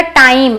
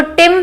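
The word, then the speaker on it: time: अब ये क्या है, टी, फिर आई है, एक लेटर, फिर ई, तो ये बनेगा टाइम। इसको टिम नहीं पढ़ेंगे। कई लोग ऐसा सोच सकते हैं ना कि आई है तो इसको टिम पढ़े, नो, क्योंकि इसके बाद ई है तो ये आई का ओरिजिनल साउंड क्रिएट करेगा।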